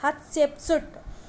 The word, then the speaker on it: Hatshepsut: His daughter Hatshepsut, note this point, pronounced the Hatshepsut.